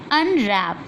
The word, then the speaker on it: Unwrap: Unwrap. Here W is silent.